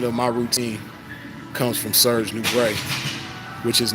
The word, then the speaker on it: Serge Nubret: But my whole routine is modeled after Serge Nubret.